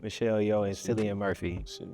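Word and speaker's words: Michelle Yeoh: Yeah, I just a tie between like how you say Michelle Yo, that's how you say her name. Michelle Yo and Silly Murphy.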